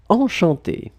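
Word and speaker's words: enchantée: Enchanté. So you can see that you've got the two options. You've got the masculine form and then the feminine form. Basically, you will pronounce them exactly the same way.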